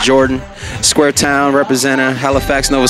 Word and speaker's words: JRDN: mouth what's going on is jrdm pronounced jordan square town representative halifax